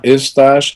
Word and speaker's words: Eustache: Yeah, Eustache, because it's like mustache with an E at the beginning. Eustache. Eustache. Eustache. Okay. It's a French name. So in French, it's Eustache.